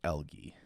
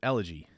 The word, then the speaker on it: elegy: would ever sing an algae I'm looking at how to pronounce it oh it's an elegy elegy is often confused with eulogy okay elegy got it